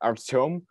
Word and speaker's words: Artyom: So my name is actually pronounced like Artyom, but it's more convenient to write it like an Artem.